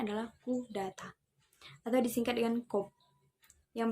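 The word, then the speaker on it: coup d'état: Pengucapannya adalah coup d'etat atau disingkat dengan coup, yang berarti merobohkan legitimasi atau pukulan terhadap negara.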